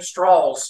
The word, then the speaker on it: Strauss: from the south and he pronounced his name straws instead of stra straws